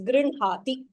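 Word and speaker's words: गृह्णाति: Ha should be pronounced. It's not Grinhati. It is Grinhati.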